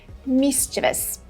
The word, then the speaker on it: mischievous: Both British and American pronunciations are mischievous, mischievous. The first part has the main stress, and then we have two schwa sounds.